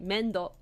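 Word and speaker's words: めんどくせ: So mendokse is said like mendokse. The k is barely audible, but it's there.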